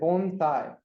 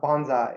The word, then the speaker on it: bonsai: all right so bonai I guess first you pronounce it bonai so bone and S not not Bonsai or but bonai so that's the proper pronunciation